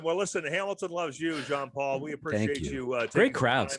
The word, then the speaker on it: Jean-Paul: It's at Jean-Paul Comedy on Instagram, or Jean Paul if you want to pronounce it properly.